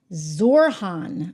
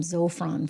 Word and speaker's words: Zohran: Oh gosh, we're spelling his name wrong. You know, I'm gonna have to get used to this. Zorhan. I keep wanting to call him Zofron for some reason.